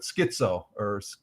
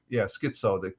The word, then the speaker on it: Schizo: Schizo, Schizo. The CH is like a K.